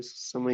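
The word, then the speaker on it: Zimmer: चीज, इसको क्या पढ़ेंगे, सिमर। सिमा, सिमर नहीं पढ़ना, ठीक है, आपको थोड़ी बहुत प्रोनाउंसिएशन भी बताता हूँ, सिमा, ठीक है।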